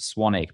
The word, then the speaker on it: Swanwick: n WIC case so it's spelled swanwick but it's pronounced Swan eek but if you go